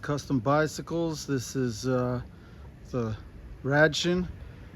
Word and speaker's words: Radchen: This is the Radchen, or as it would be pronounced in German, the Radchen.